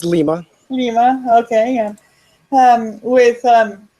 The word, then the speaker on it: Lima: here with um um am I pronouncing that right uh it's lima lima okay um with um coexis coin how